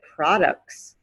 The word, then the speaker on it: products: word is product product you hear the t at the end of product but if you add an s at the end again you get products products they have the